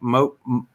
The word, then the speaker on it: Molotow: And I put in there, I think it's spelled MOLTOW, Maltow. There it is. Maltow. It's a Molotov, MOLO. Like a Molotov cocktail? It's like Molotov without the V on the end. It's a W.